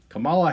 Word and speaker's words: Kamala: Kamala Harris, I'm pretty sure that's how you pronounce her name.